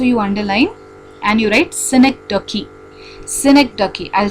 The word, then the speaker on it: synecdoche: So that also you underline and you write synecdoche. Synecdoche. I'll spell it.